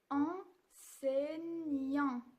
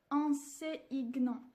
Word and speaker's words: enseignants: je ne dis pas en sigle ans ici en scène y en a eu il se prononce on sait aignan parce que le g et le n se prononcent mieux mieux en saignant